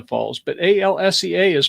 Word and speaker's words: Alsea: I would want to say Alicia Falls, but A-L-S-E-A is pronounced just... Alsea, I think.